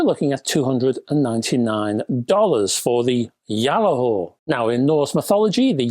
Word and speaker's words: Gjallarhorn: Now, it's not the GJALLARHORN. Well, you can call it that if you want to, but that's not the intention. I believe this amplifier is pronounced Gjallahor. It is a Norse word, which is a common